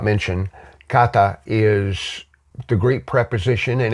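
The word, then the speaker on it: κατά: Two words, and it's actually kata ikos. Now, kata is a Greek preposition, and that firm kat,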